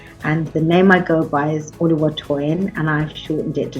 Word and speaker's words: Toyin: In Ghana, people want to say Tonyin because there is a Tonyin in Ghanaian. Oh. But I have to correct them. I say, no, it's Toyin. The ends are the other way around.